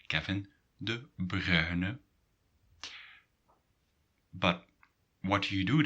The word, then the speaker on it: De Bruyne: So what is really difficult about this name is this UY sound. Okay. And this UY sound is written in Dutch as UI.